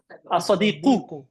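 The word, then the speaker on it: الصادق: As-sadiqu. I always pronounce the i'rab, brothers and sisters. Pronounce the last vowel. Very important.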